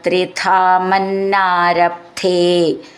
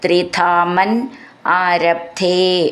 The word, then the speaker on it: ത്രിധാമന്നാരബ്ധേ: അപ്പൊ നമ്മളത് ചേർത്ത് ചൊല്ലാനുള്ളതാണ് ത്രിധാമൻ ആരബ്ധേ ഈ ന എന്ന എന്നുള്ളത് ഡബിൾ ആയിട്ട് ചൊല്ലണം അപ്പൊ ആ എന്നും കൂടി വരുമ്പോൾ ത്രിധാമൻ ആരബ്ധേ എന്നുള്ളത് ത്രിധാമൻ ആരബ്ധേ അങ്ങനെ ചൊല്ലണം സതമവാജിമേഥയാകേ സതതമവാജിമേഥ ധ എന്നുള്ള